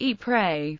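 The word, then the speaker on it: Ieper: As a note on pronunciation, while the people of Flanders pronounce this name as E prey to many Canadians who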